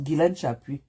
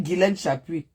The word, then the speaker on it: Guilène Chapuis: prononce mon nom quand tu fais tes truc là prononce Guilen Chapui. Ne copronce pas les Ne fais pas les truc dis Guilen Chapui.